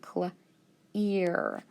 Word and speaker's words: clear: Now remember, EA can make several different sounds. This is actually going to make a long E sound. Clear.